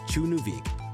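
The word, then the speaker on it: Tjørnuvík: Tjørnuvik, pronounced Chunuvik, is the northernmost village on Streymoy Island in the Faroe Islands, chilling in the North Atlantic Ocean.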